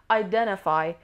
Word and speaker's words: identify: Identify. Identify. Stress is on the second syllable.